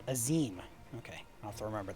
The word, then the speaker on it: Azim: The Azim Step, home to countless roaming tribes. That's how they pronounced it. Azim.